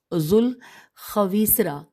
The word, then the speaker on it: ذوالخویسرہ: صلی اللہ علیہ وآلہ وسلم کی زندگی میں ذوالخویسرہ، ہم ہجے کرتے ہیں، زال واو الف لام خے